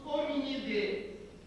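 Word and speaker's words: Hominidae: Hominide. Escreve-se Idai.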